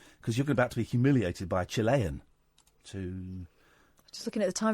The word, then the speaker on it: Chile: Can I ask, how do you pronounce the name of your country? Is it Chile or Chile? Chile. Chile? Chile. Chile, not Chile.